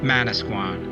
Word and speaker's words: Manasquan: point at the top the english pronunciation would become mana squan when henry hudson sailed